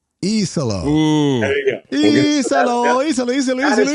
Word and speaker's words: Iisalo: Pronunciation of the guy's name here. Yeah, let's hear it. Tuomas Iisalo. Isalo. Ooh. There you go. Isalo.